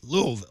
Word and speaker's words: Louisville: I say it right they say you got to swallow when you say Louisville right Louisville not Louisville right Louisville right Louisville there it is man just comes out real fast Louisville Louisville Louisville Louisville yeah